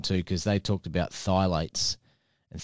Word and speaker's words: phthalates: episode to listen to because they talked about phthalates and thigh lights are in just about all of your hair